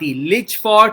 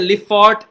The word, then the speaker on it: Lijphart: एक मैं यहां पे एक नाम लिखता हूं, LIJPHART, लिचफॉर्ट या लिफॉर्ट इसको प्रोनाउंस किया जाता है।